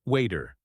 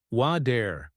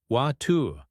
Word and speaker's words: water: Water pronounced as waiter. Correct. American English. Water with a soft D sound. Correct. British English. Water with a clear T sound.